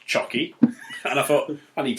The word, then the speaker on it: Csoky: It's written CSOKY. And on the profile, it does say, pronounced Chocky.